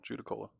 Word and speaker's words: Judaculla: Yeah, Judicola.